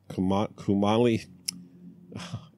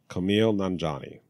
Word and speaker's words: Kumail Nanjiani: And Kumali, and I really practice. And I even listen to this. I'm like, how do I pronounce his name? Kumail Nanjiani.